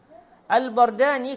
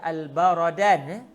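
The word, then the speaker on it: البردان: Al-Bardani, kata Syekh Abdullah Al-Ghumari, Al-Bardan bi fathil ba'i wa sukunir ra. Al-Bardan, cara baca begitu, bi fathil ba' wa sukun ar-ra. Al-Bardan, jangan dibaca Al-Baradan. Ra tu hendaklah dibariskan mati, manakala ba berbaris atas.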